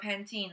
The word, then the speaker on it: Pantene: they pronounced you know Pantene like the shampoo it's spelled PA NTEN e Pantene but they pronounced with Penton there's an e at the end Pantene but they just call it pan ten and sunglasses are called